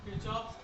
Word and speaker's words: Kirchhoff: उसमें भी हम लोग यहाँ पे आंसर देंगे किरचॉफ के प्रथम नियम।